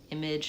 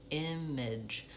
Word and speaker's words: image: So, that's because it's unstressed, it's reduced.